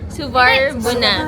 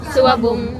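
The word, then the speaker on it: Suvarnabhumi: Suwabab. Suwarbuna. Hindi. Suwabum. Suwabum. That's how you pronounce it.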